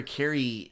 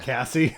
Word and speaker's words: Carrie: And then we see where Carrie... And he keeps getting her name wrong. Yeah. Cassie.